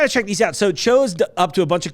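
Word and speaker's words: TCHO: These are in stores now it's pronounced Cho, T-C-H-O. I know you've also seen this product and gone, how do you pronounce that? Is it T-C-H-O? No, it's Cho. Like Margaret Cho.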